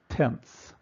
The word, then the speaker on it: tenths: It's pronounced tenths position. The 2 is in the hundredths position. The 3 is in the thousandths position. The 4 is in the 10,000th positions, and the 5 is in the 100,000th positions. Notice the TH added to all these things that designate to the right of the decimal point.